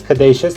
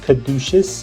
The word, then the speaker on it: Caduceus: one copies of cadations it's cadacious not caduceus okay please guys get it in your heads pronounce it correctly tenacious and it just sounds